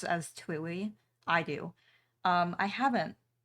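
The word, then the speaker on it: TWEWY: I do pronounce it kind of like Chewy.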